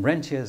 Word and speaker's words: rentiers: word here is actually ranas you could pronoun I don't know why they pronounce it in French still but um rentiers is just as good same thing and